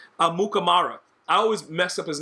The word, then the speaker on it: Amukamara: You got bums like Prince Amakamura. What is his name? Amukamara. I always mess up his name. Amukamara? Is that how you say it? Yeah, I think it's Amukamara.